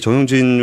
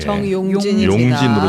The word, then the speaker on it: 정용진: 근데 저는이 정영진 회장님이 좀 되게이 정치적으로 조심하셔야 될 거라는 생각들을 굉장히 많이 하고 죄송한데 발음 좀 정확하게 정용진으로 좀 부탁드리겠습니다. 정용진 아 지금 댓글에서도 다 지금 나랑 헷갈리고 있어요.